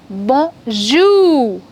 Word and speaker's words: bonjour: In French, we do not stress the first syllable, but we stress on the second syllable. Okay, so it's going to be bonjour.